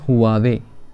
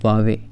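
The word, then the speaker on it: Huawei: ये चाइना का बहुत ही पॉपुलर ब्रांड है, इसको लोग बोलते हैं हुआवे, ये हुआवे नहीं है, इट्स वावे।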